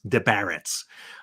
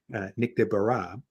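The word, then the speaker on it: Nick Desbarats: who's Nick de bruh if you've never heard the name pronounced it's de Barrett's um Nick de barrah and he was presenting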